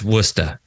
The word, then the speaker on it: Worcester: town so this throws people up but it's wora yeah I think it's designed to it's designed to be the first challenge when you come to the area like you know like if you say it right like you know yeah you're you're not you're a local all right so so